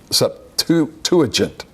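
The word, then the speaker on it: Septuagint: thing called the Septon see if I can pronounce this word it's a Sept it's up to - a gent okay it's easy for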